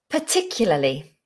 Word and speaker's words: particularly: 5 syllables. Big word. Particularly. Particularly. Not pa. Particularly. No, I think it's going to always be a schwa. Particularly. Particularly. Go with a schwa.